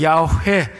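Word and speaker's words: 야훼: 여러분 원문으로는 야회 이렇게 발음을 하는데 하나님은 인간과 약속하시는 분이에요.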